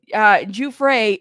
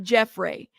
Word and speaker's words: Giuffre: See, some of you guys say Giuffre, Jeff Ray. See, those are two different pronunciations. Giuffre is correct, not Jeffrey.